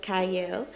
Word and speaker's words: Qiayel: I'm your host, Qiayel. It starts with a Q, but it is pronounced Qiayel.